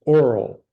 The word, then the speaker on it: orle: You can choose to pronounce. Now here's a really short one. Here's a really short one. It's oral, a narrow border inset from the edge of a shield.